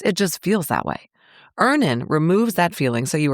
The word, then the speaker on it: Earnin: 5 million people are already on Earnin, and honestly, we all should be. Download Earnin on the App Store or Google Play, spelled like earning money without the G.